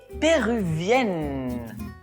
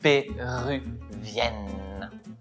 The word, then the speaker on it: péruvienne: termine avec la prononciation 1 1 péruvien et péruvienne pour le féminin termine avec la prononciation du n finalne.